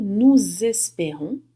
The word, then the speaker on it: nous espérons: Nous espérons, fazendo a liaison, né, pronunciando o S do nu como se fosse um Z.